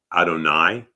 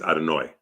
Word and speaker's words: Adonai: And so the Sphartic, as an example, is Adonai. The Ashkanazi is Adonoi.